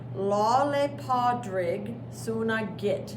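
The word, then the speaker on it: Lá Fhéile Pádraig Sona Duit: This is Irish, and Irish is really its own language, and so it doesn't even get pronounced the way that it looks.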